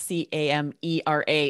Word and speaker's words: camera: word camera you would never know that it's c-a-m-e-r-a if you're trying to write it phonetically if you're writing it how it sounds